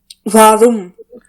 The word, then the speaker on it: warum: Give some extra emphasis, extra effort on speaking this r. Like suppose if a cat is very angry, so she will pronounce like she will make her sound like grrr, grrr, grrr. Yeah. So you have to pronounce it like warum.